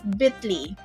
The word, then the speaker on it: Bitly: So yes, it's pronounced as Bitly.